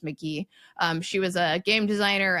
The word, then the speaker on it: Magie: It's Magie, but I think that's pronounced McGee.